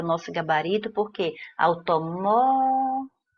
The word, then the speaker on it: automóveis: Então, a letra C vai ser o nosso gabarito, porque automóveis. A penúltima sílaba é tônica e próximo, a antepenúltima sílaba é tônica, o que nos dá aquilo que foi pedido no enunciado, ok?